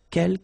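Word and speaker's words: quels: the second one uh K you don't pronounce the final s here Kel means few okay and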